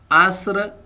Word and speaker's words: عصر: یہ سورت اثر پڑھتے ہیں اور سورت نصر پڑھتے ہیں. یہ عربک ہے، اس میں تھوڑا مسٹیک کرتے ہیں. یہ اصل میں تلفظ ہے سورت عصر، سورت نصر اور سورت کوثر.